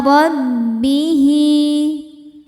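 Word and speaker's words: رَبِّهِ: Maqama rabbihi, ro dibaca tafkhim karena berharokat fathah. Cara bacanya ditebalkan. Rabbihi, hi hukumnya mad silah qasirah ya karena ada hal dhamir yang diapit 2 huruf hidup dan setelahnya selain hamzah, maka hal dhamirnya dipanjangkan 2 harokat.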